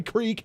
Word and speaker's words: creek: the creek, and yes, it is called a creek in Ohio, is how I grew up in Ohio to pronounce that. Not a creek, but it is a creek, C-R-I-K.